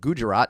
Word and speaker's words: Gujarat: happen to come from the uh state of Gujarat in the 1970s I think you pronounced that correctly I thank you I'm very